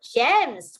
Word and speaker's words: gems: Because the G here says the J sound because it's followed by E.